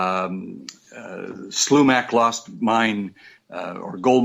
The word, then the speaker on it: Slumach: uh Slumac lost mine uh or gold mine or something like that uh group that was put together.